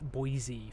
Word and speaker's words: Boise: Everesma, and Boise is not pronounced like noise, it's Boise for some reason. Boise, Idaho.